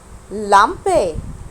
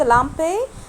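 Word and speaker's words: Lampe: ال لامبي. لامبي. وبرضو اتفقنا ان حرف الاي في الالماني لازم يتنطق، عشان كده انا قلت لامبي ما قلتش لامب.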